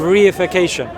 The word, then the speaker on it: reification: It's called the fallacy of reification. The fallacy of what was that word? Reification. Reification. Yeah, it's one word, but I've just broken it down. 4 syllables.